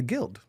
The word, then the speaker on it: Gild: How do you say it? The Gild. Without the U.